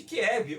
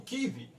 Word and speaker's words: Kiev: podemos assim dizer, na periferia de Kiev, ou Kiev, que é a pronúncia correta.